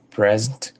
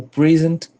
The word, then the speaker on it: present: Por exemplo, a palavra present pode ser present como substantivo ou present como verbo.